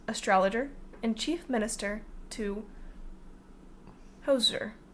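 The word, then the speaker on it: Djoser: visier sage architect astrologer and chief minister to hoser D hoser the hoser the artist hoser no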